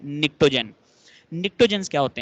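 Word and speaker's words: pnictogens: 5A के element नाइट्रोजन family या फिर निक्टोजेंस, पी साइलेंट है इसमें, निक्टोजन।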